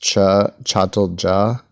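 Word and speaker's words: Çatalca: It's ironic because this is spelled with a C, but it's pronounced Chatalja Peninsula, and then the other one is spelled with a CH, but it's pronounced Kaukidiki.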